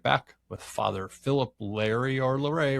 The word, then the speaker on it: Larrey: Because it reads like Larry, but it also looks like there might be a more sophisticated pronunciation possible. It's actually Larrey. Okay. Because it ends with EY.